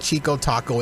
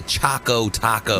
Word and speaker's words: Choco Taco: 2020 it's happening with Chico Taco it's Olive ice cream and you're saying it wrong what am I again yes it's not a chico Taco it's a Choco Taco man I spoke Taco